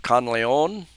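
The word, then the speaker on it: Canlaon: but uh this the town of conon spelled with the sea instead of K is is near and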